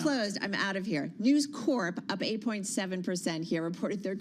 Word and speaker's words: News Corp: forth about this but I tell you it's Corp uh News Corp you can pronounce the P oh did I say news Corps that's why you get